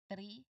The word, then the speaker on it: three: So it is very important that you not you do not say the word three because if you say three it simply means your tongue is not touching your teeth at all.